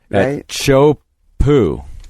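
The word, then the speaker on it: Teahupo'o: and it was uh in Tahiti and uh chop po that's how you pronounce that I looked it up today nailed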